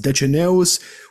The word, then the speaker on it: Deceneus: It is a reference to Dicenius, or pronounced Deceneus, which was basically a wizard during the Trajan Wars in Dacia.